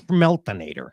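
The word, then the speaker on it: Smelinator: out there and plus you're saying it wrong it's smel inator all right I appreciate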